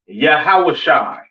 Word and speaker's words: Yahawashi: and so on now Christ's name in Hebrew is not Yahweh it's not yahoshua all right it is yahawashi all right yahi all